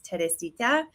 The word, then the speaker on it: Teresita: It's Teresita.